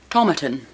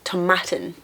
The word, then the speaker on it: Tomatin: this one already about tomatan tomatin no Tom it's like tomatoes it's tomatin yep and and that